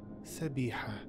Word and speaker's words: Sabiha: Frank Herbert pronounces her name Sabiha. Sabiha. Pronounced Sabiha.